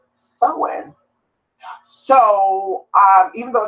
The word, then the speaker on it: Samhain: English word second of law it is actually pronounced someone so even though spell s am h AI NS the lucky bunny says I'm gonna study stem Han and it's not pronounced that way and you